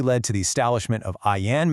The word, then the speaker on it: AAYAN: A foundation that ultimately led to the establishment of Ian Management Solutions, pronounced ION, in 2015.